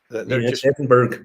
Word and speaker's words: Edinburgh: hotel room in in in Edinburgh edenburg as we pronounce um they're just hotel